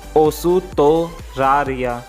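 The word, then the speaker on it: オーストラリア: OUSUTORARIA, ओसुतोरारिया, ओसुतोरारिया। ठीक है guys, Australia को ये बोला जाता है ओसुतोरारिया।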